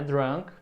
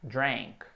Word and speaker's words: drank: Não é drunk, e sim é drank.